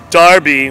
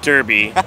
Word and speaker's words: Derby: so far London um Manchester United Wolverhampton um Darby which is not pronounced derby starby um London did I already say that